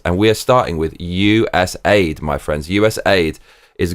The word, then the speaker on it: USAID: we are starting with us Aid my friends us Aid is Ground Zero for government corruption the p is pronounced us a d I'm going to call